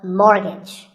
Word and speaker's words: mortgage: buy a house so which letter is silent here it's the t the first syllable is more and the second is so mortgage number 27 is this